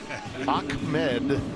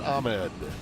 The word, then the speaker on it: Ahmed: Yes, it's not spelled with a K, but the K is there. Ahmed, Right. not Ahmed.